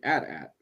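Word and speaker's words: AT-AT: there's the imperial way which is letters not at at the rebel way is to say at at because you know they'd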